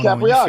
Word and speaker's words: Capriati: I am Capriati. Good to see you, man. Thanks. See, you said it right. You got that Italian, accent going Capriati, on.